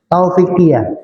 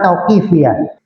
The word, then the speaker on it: tauqifiyah: Saya tadi kan belum kali membacanya tauqifiyah, ternyata tulisannya taufikiyah. Ya, yang benar tauqifiyah.